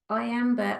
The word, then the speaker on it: Iambe: Oh, the goddess was Iambe. I'm probably not pronouncing her right. I will put it in the chat. It's as in iambic pentameter, which is what Shakespeare used to write in, like written form.